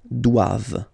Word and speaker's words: doivent: So same thing, classic ending for the plural form, ENT here. Okay, but then you don't pronounce it. Doivent, doivent.